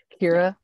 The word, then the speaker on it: Ciara: always tell people is it's pronounced like Keira Knightley but the nightly silent but the nightly flat Kira her and